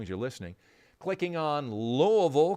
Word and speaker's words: Louisville: Clicking on Louisville, Kentucky. That is the right way to say it and pronounce it.